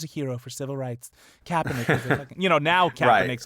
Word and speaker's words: Kaepernick: off of it you you said kaepernick every time that's that's how you say it man you know he's